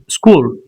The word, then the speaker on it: school: Example s h here h is not clearly seen visible but it is school. You just say it and you feel school.